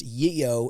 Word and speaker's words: Geo: plate Geo, with GEO, which for clarification apparently is pronounced Yeo in Swedish, and it is taken from the Cuban slang word for cocaine.